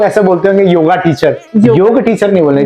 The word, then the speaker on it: योग: तो आपको भी कई लोग ऐसा बोलते होंगे योगा टीचर, योग टीचर नहीं बोल रहे, जबकि उसका शुद्ध जो उच्चारण है वो योग शिक्षक के रूप में योग है।